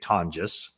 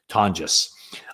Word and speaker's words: Tonjes: So you have Luke Farrell and Jake Tonjes. That's the way you pronounce it, by the way. If you want to look at it phonetically, it's Tawn, Ton, and then Jus, I guess. Tonjes.